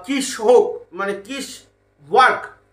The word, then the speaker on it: Kiswok: ঠিক আছে, তো কোম্পানিটা আমি বলছি তো কিশোক মানে কিস ওয়ার্ক। আমাদের বাংলায় হয়তো অন্য কিছু উচ্চারণ হয়, বাট আমি যদি ইংলিশ মানে স্পেলিং দেখে যদি আমি উচ্চারণ করার চেষ্টা করি তাহলে হচ্ছে কিশওয়াক। ওয়ার্ক নয়, কিন্তু এটা একটা কোম্পানির নাম, কিশওয়াক ইন্ডাস্ট্রিয়াল কোম্পানি।